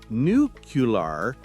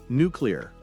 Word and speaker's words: nuclear: But technically, nucular is incorrect. It should be nuclear, right?